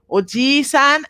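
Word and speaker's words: おじいさん: in these uh uh words oisan and obasan without the long vowel they become not grandfather and grandmother they become aunt and uncle so you have to be careful to pronounce the long vowel as two times the length of the regular vowel okay okay so now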